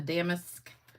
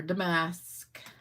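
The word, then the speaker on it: Damask: of text in the Damisk or Damasque. I know some of y'all think I say it wrong, but I swear I looked it up and the emphasis is on the first syllable.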